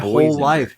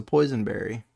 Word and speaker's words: boysenberry: My whole life, I've thought it was a poisonberry. No, you would think it's a poisonberry because there's no reason they should be that similar in how they're pronounced. But it's a boysenberry, B Because O Y.